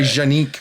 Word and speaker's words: Canik: Some guys say Janik. That's like one of those weird guys that's really into French stuff. Yeah. Canik? Yeah. I don't know how they say it, but I was impressed by all the stuff they have. Go watch my Canik Mete review. That's how I say it.